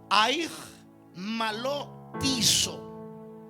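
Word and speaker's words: αἰχμαλωτίζω: O sea, es la palabra griega que se pronuncia, escuche bien, aig malotizo.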